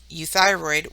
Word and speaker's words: euthyroid: of some general rules EU has a sound like the word you our word here is euthyroid which means good or